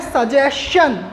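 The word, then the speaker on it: suggestion: तो सजेशन है, लेकिन by rule and bye pronunciation यह होता है सजेशन। क्या पढ़ते हैं इसको? यानी एस टी एक साथ आया तो इसका जो करेक्ट प्रोनाउंसिएशन है वह क्या है? सजेशन।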